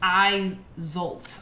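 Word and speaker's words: Isolt: name okay let's see the pronunciation is i zolt izolt izolt okay so it says the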